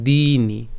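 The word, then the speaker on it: দীনি: হবে কি অবয়ক্তা এরপর দিনি ঠিক আছে এখানে যেহেতু দীর্ঘকার আছে একটু চাপ দিতে হবে দিনি ঠিক আছে এরপর ভূতানি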